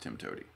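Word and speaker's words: TIMTOWTDI: of toady oh okay it's pronounced Tim toady okay all right all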